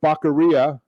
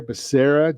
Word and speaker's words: Becerra: for hhs secretary yeah apparently they didn't get the pronunciation or the phonetics into the teleprompter for joe biden because it's javier becerra joe come on get